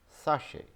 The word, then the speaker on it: sachet: Sachet, sachet, sachet. so pronounced as sachet and written as SACHET.